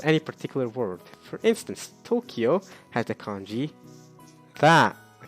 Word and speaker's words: Tokyo: The word must be read with the Tokyo reading. East capital. Tokyo. Not Higashi Kyo. Tokyo.